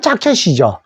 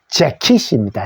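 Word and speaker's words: jacket: 그래서 저도 이걸 자켓이라고 먼저 읽죠 모르면 그냥 자켓이 읽으면 맞추면 아로 맞추면 근데 사전 찾아 보면은 자켓이 아니고 아니고 재킷입니다 제킷 요게이 소리가나요 요게 e 소리고 요게에 소리예요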